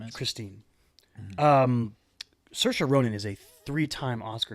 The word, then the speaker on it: Saoirse: film, is played by Saoirse Ronan. Get that pronunciation right. Saoirse. So it is rhymes with Saoirse. inertia. Ryan Gosling taught me that. It rhymes with inertia.